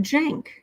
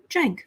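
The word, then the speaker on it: Cenk: they're very disappointing uh pronounced Jank says uh Sharon rice like it's Turkish oh Jank okay thank you four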